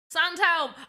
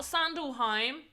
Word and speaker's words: Sandhelm: stuff in the alley sand helm i said it right you nice been in talks with sandhill not sandalheim not sunderlheim sandhelm i still want to